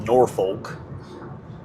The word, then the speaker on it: Norfolk: And I know that's not Norfolk, Norfolk, something like that. You don't. It's like you don't pronounce the L very much either.